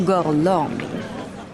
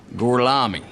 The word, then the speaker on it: Gorlami: Dies hier ist der hervorragende Sensationsdarsteller Enzo Gorlomi. Gorlomi? Lo pronuncio correttamente? Sì, corretto. Gorlami? Per cortesia, me lo ripeti ancora. Gorlami. Mi scusi, con me? Gorlami. Ancora una volta.